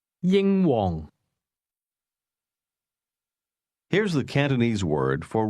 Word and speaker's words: 英皇: Did you hear the high and lowlevel tones in that name? Say it again. Yingong.